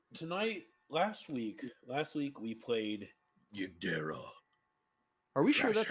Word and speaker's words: Yigderra: I think the D is silent, so it's Yigderra.